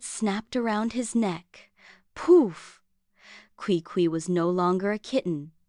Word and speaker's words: Qui Qui: For one, his name was Qui Qui, pronounced Qui Qui, which sounded less like a cat and more like a squeaky door.